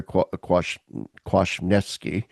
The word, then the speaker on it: Kwasniewski: Peter Kwasniewski. That's how you pronounce his name.